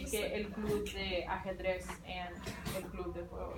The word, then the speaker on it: ajedrez: Ajedrez. You kind of like gotta do this thing with a J, but you could just say ajedrez.